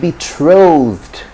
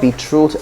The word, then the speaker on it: betrothed: much as possible to stick to the correct pronunciation of what you want to say okay then the next is betrothed betrothed from betrothed you get the word betrothed so it's not be truth and be truthed so he's been betrothed to